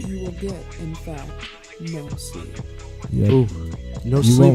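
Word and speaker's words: moSLP: It's pronounced no sleep.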